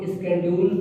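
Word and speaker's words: schedule: इसको स्केड्यूल, अब इसका नया नाम, पहले इसको शेड्यूल पढ़ते थे, इसको पढ़ते स्केड्यूल। शेड्यूल पहले पढ़ते थे, नाउ अब चेंज हो गया, इसका प्रोनाउंसिएशन पढ़ रहे स्केड्यूल पढ़ रहे हैं।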